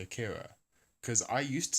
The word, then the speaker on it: Akira: But it's as I understand it, the Japanese is Akira, right, with the stress on the first syllable and the trill on the R.